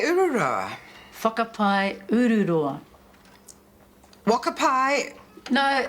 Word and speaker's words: whakapai: Marge, whakapai. I beg your pardon? That word in the second line, it's whakapai. That's what I said. Could you just read the whole line, please? Wakapai ururoa. Whakapai ururoa.